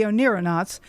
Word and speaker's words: oneironauts: And oneironauts is spelled O-N-E-I-R-O-N-A-U-T-S. So astronauts, but oneironauts. So we're astronauts in our dreams.